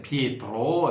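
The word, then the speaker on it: Pietro: raide pour dire effectivement il faut bien prononcer mon prénom c'est piétro et bon je sais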